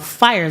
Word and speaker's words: FYRE: So as far as the youth is concerned, I work with an organization called Fire Zone. Fire Zone, absolutely. So that's an acronym, and it's spelled FYRE, Entertainment, and that's founded by Mr.